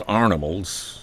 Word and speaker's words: Arnivals: up his Creations that he calls arnivals emphasizing the draw way of pronouncing iron like iron Arnold has been among